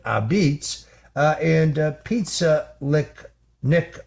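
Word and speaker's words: apizza: His place is called Abitz which of course is the pronunciation of uh the word pizza spelled a p I za that's how Italians say it. uh beats uh and pizza lick Nick Lano joins us now on the Roger Stone Show.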